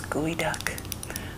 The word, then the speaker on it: geoduck: There's gooey duck, which is spelled like geoduck, and they have a really long neck.